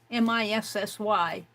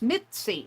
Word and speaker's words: Missy: Halo October 2023 Missy M i SS y first time I heard that pronounced I thought it was Mitzy Mi TZ Mitzy but it's Missy I get those two